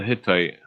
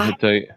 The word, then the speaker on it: Hittite: The Hittite. The The hit. Yeah, the Hittite. Okay, I pronounced it wrongly.